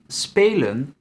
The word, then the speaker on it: spelen: If the syllable ends in an open vowel, the pronunciation is long. So our verb spelen in syllables will be spelen.